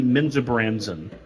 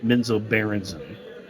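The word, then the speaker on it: Menzoberranzan: like for me it's always gonna be Menza Branson not menzo Berenson and so Branson yeah here's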